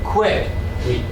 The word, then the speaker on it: quit: One sound, one syllable. Quit.